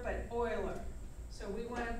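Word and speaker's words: Euler: and know this formula and the name is Oiler not uler but Oiler so we want to pronounce it o i l e r Oilers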